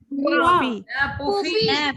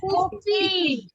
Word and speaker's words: पुफी: Pronunciation ॾिसो कीअं थो थिए, पाण फ जेका खणंदा आहियूं न, ॾिसो पुफी, प ऐं फ, पुफी। ऐं पुफी जेका चइबी हुन में फ में पंहिंजा ॿई चप मिलण खपनि।